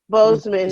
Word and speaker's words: Boseman: Boseman.